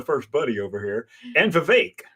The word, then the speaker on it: Vivek: buddy over here and vake rhymes with cake ramas Swami um and